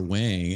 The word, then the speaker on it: Wang: I a buddy of mine has the same last name and he says Wong. So I guess it could go either way.